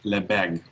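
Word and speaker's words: Lebesgue: spelled l e b s gui and it's pronounced as le beg the bag integral it is a different way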